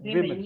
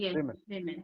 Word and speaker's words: women: you say woman uh woman women the the pronunciation is women women like men women women uh okay uh you